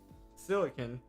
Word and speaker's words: silicon: Pronunciation of the silicon. Okay, so then silicon, and then this is silicone.